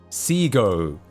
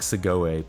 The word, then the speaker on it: Segoe: It is Seago. Seago. Ugh. Anyway, so it's Seago. Because free type is cringe. Yeah, I get. I say Seago. That's correct. I always read it as like Segoe, but that's because it's